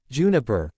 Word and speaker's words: JNPR: The next team is John, Nora, Pyrrha and Ren, forming Team JNPR, pronounced Juniper, with John serving as its leader.